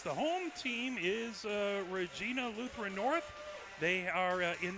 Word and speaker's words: Regina: it's a nice Jersey I just have to remind myself it's not pronounced like the Canadian uh uh uh area it's Regina okay and the Pioneer